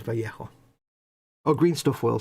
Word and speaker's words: Vallejo: sometimes i say i i'm pretty sure i heard i i found out from the horse's mouth it's actually vallejo to people that live in that part of the world and speak that language and apparently it is vallejo oh green stuff will